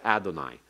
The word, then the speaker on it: Adonai: under the wow and that's a signal to pronounce it rather as Adonai and today modern Jews